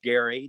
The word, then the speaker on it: Gerry: appears to be that former vice president eldridge gary did pronounce his name that way and he drew